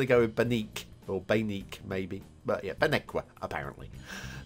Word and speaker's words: Baneque: Random5 has actually informed me how to pronounce that because I think I was going to go with Baneque or Baneque maybe.